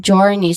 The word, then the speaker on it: journey: So this one, that one is the letter J sound. Okay, the J sound. That is how we IPA transcribed the letter J sound. Okay, so that is the letter J sound, and then it is followed with a long O sound, and then just copy how the last syllable sound. Yeah, the last syllable sounds. So this is journey.